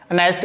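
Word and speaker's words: honest: इसी तरह अब वर्ड है अनेस्ट, एच ओ एन ई एस टी, अनेस्ट। इसमें क्योंकि एच जो है ये साइलेंट होता है, आवाज़ जब इसको उर्दू में लिखते हैं तो यूं लिखते हैं अनेस्ट।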